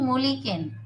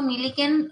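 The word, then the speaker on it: Millikan: এটার জন্য কে বিজ্ঞানী মলিকেন এটাকে কেউ কেউ মিলিকেন প্রোনাউন্সিয়েশন করে কেউ কেউ মলিকেন করে তোমরা তোমাদের মত করে পড়বে ঠিক আছে মলিকেন সাইন্টিস্ট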